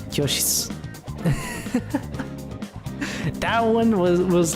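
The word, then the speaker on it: 教室: we actually learned that shitsu, kyoshitsu, is just pronounced kyoshitsu.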